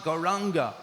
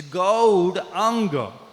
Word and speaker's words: Gauranga: We should pronounce it properly actually. It's not Gauranga. Many devotees, they say Gauranga. But it's not Ranga. Ranga means red. It's Gaudanga. It's Gaudanga.